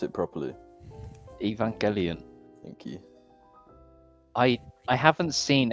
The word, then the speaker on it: Evangelion: Can you pronounce it properly? Evangelion.